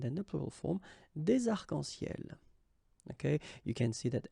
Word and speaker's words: arcs-en-ciel: the plural form, des arcs-en-ciel. Okay, you can see that as usual we don't really pronounce this final S, so phonetically it's almost the same, but then we've got this liaison between the two, des arcs-en-ciel.